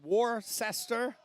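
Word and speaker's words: Worcester: we have some of the weirdest towns and pronunciations war sester war sester we're up and running on E3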